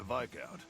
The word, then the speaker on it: viscount: Anyway, forgive me if my extended I hate that that word is pronounced Viscount when it looks like Viscount, and Viscount sounds stupid.